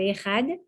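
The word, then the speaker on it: אחד: Alors, quand on dit le Echad, on insiste sur le Dalet. Et on essaie de prononcer le Dalet comme il se prononce à la base, qui n'est pas un de, mais un de. Presque le TH américain.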